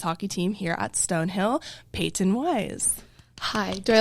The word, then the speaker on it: Peyton: Yeah, I'm very particular how I say it cuz like just like how my parents say it and it's Payton. It's like kind of like two syllables kind of thing.